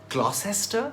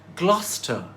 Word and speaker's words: Gloucester: So Gloucester rhymes with Foster.